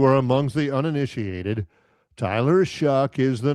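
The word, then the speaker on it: Shough: John, how excited are you about Tyler Shuck? And that's how you do pronounce his name. Rhymes with Yeah. John, how excited are you about Tyler Shuck this season?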